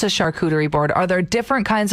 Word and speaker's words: charcuterie: steph wrote in saying it's not charcuterie it's charcuterie sorry we're not bougie